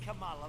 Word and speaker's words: Kamala: It's Kamala, like a comma.